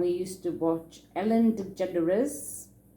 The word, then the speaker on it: DeGeneres: to watch ellen degeneres i don't think i knew how to say it in those days i used to call it i think i used to call it ellen de genre or something ellen de genre um and then there was